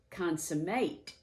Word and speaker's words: consummate: skill well done uh the word consummate can also be pronounced with the same spelling consummate which in that case it would be a verb and that means to